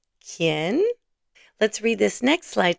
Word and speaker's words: quién: The little key illustration is there to help you remember the pronunciation. Say it with me. Quién? Quién?